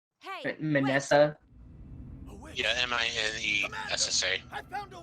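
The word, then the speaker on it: Minessa: It's like how you pronounce Vanessa. Okay. Yeah, it's with an M. It's a little different how to pronounce. Hey! Manessa.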